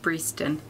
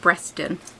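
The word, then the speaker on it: Breaston: derby but is i've only just learned it's pronounced breeston um because every time i look at her a dress i pronounce it breston and it makes me laugh all over again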